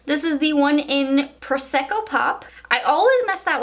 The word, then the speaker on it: Prosecco: is the one in Prosecco pop I always mess that one up I don't know why I say preska pop but it's Prosecco pop I don't know I've